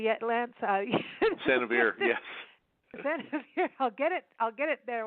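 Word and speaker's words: San Xavier: San Javier, yes.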